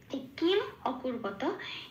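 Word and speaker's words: কিমকুর্বত: এইবার কি হয়, কিম অকুর্বতা, এটা একটু তাড়াতাড়ি উচ্চারণ করতে হয়, নইলে ছন্দটা আসে না। কিমা করবাতা সঞ্জয়া, এরকম একটু তাড়াতাড়ি। এই কিম অকুর্বতাটা যেটা বলছি, সেটা কিমর মতোই শুনতে লাগে, কিমা করবাতার মতোই শুনতে লাগে কিন্তু। তো সেই জন্য আমি উচ্চারণের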